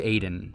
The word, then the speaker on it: Aden: Also, I don't know if this guy's name is pronounced Aiden or Adin, but we'll go with Aiden. Side note, I also found out shortly after this that it is indeed Aden, and it is a city in Yemen.